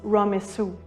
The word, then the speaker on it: Ramesses: In the ancient Egyptian language, “Ramesses” was pronounced “Ramessu”.